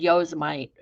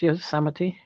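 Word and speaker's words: Yosemite: Evie to say that because I always said Yos might but it's ye that's the only way I learned how to spell how to pronounce y samity because I always got it yite you did a I was in good company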